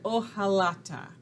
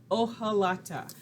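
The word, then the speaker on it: hojalata: make what's called an o halata i know that h is there but that's a silent letter o halata these are made with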